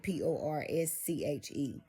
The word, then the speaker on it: Porscha: about that Porscha DL is spelled like it's pronounced like that. DE and then dash L. Okay, Wilson. And Porscha, Porsche.